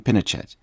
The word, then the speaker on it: Pinochet: Before we go any further, and to save me any further embarrassment, I have always said Pinochet, and you're saying Pinochet.